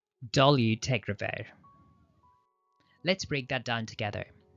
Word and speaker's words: dolutegravir: Dolutegravir. Let's break that down together. Repeat after me. Do, liu, teg, ra, vir. Notice the emphasis is on the third and fifth syllable. Dolu, teg, ra, vir.